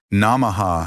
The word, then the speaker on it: Namaha: Namaha has the first A as in father, the second as in about, and the final A as in about, with the H softly aspirated.